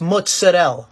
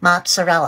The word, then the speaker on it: mozzarella: Next time you want to say it, it's mozzarella, all right? Not mozzarella. I'm not sure about that. Let's ask to a few Italians. Come si pronuncia questo formaggio? Mozzarella.